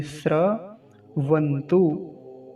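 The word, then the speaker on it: स्रवन्तु: कहेंगे क्योंकि बहुत सारे लोगों का उच्चारण इसी प्रकार गलत होता है क्योंकि वो इसको त्र पढ़ते हैं दिखने में भी ऐसा ही लगता है कि जैसे त्र लिखा हुआ हो क्योंकि आदत त्र की है ना ऐसा कहीं दिखने में भी नहीं आता यह वाला श्र जो लिखा हुआ है इसमें तो क्या हो गया रभ श्र वंतु वंतु तो आसान है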